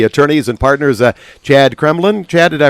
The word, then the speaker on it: Kreblin: one of the attorneys and partners at Chad Kremlin Chad did I pronounce that right you did good well walking